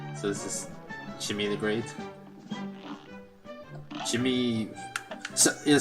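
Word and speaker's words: Djimmi: I assume the D is silent, like it's written the Jin, but I think you're supposed to pronounce it Jin, right? So this is Jimmy the Great.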